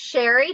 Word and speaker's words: Sherri: It's sherry, like the drink, and it's Okay.